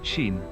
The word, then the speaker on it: Sin: It's pronounced shin.